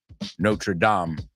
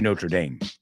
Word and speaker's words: Notre Dame: hunch as was the Hunchback of notra Dame notredam is the real way to pronounce it yes not tram but we say Notre Dame because it's a university so I have a